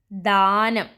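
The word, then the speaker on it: ദാനം: Next word is danam. Only one symbol is different. Da plus a. Da. It's a long sound letter. Then na plus nam. Danam.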